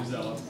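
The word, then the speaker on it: Newsela: How to spell that? Yeah. New, like N-E-W, and then S-E-L-A, Yeah. New Zella.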